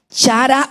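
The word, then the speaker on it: χαρά: griega que es la palabra chara o chará y cuando en el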